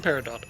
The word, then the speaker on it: Peridot: T is pronounced in Peridot. Okay, cool.